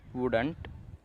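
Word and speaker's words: wouldn't: वुड और नॉट को, ये दोनों को मिला दिया है तो वुडंट बना, वुडंट। इसे आप वुड नॉट भी प्रोनाउंस कर सकते हो, लेकिन वुडंट कहना ज़्यादा सही लगता है।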